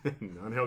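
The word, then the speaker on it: Ángel: Love Is that his pronunciation? Angel, yes, I Angel.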